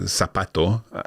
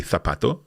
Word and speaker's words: zapato: For example, zapato, with a sound for a Z. I would say zapato, because I've studied and lived in Spain, because we pronounce a Z with a th sound.